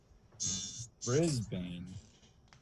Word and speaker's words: Brisbane: Brisbane. Maybe I might be saying it wrong. It's BRIS. Are you saying V like Victor or B like Bravo? B, bravo. Brisbane.